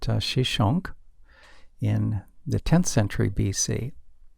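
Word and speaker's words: Shoshenq: Another major military conflict involved Pharaoh Shishak, whose name is pronounced Shishonk, in the 10th century BC.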